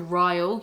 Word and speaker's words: Ryle: meets this neurosurgeon called ryle yes that's like kyle but with a r instead of a cup royal kincaid or kinsade